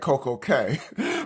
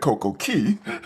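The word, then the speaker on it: CocoCay: I say Perfect Day at Coco Cay, but I just interviewed a Disney Cruise Line blogger who insists it's Perfect Day at Coco Key. But the proper Bohemian pronunciation is Key, but I will freely admit that in the popular vote, you're winning all by a landslide.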